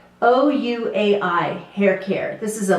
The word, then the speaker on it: OUAI: Oh, it must be pronounced way because they say and they spell the word.